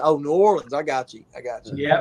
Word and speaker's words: New Orleans: He said, "New Orleans." I said, "Oh, New Orleans. I got you. Yeah, I got you. I got you." It's all one word. You're not supposed to pronounce all those letters.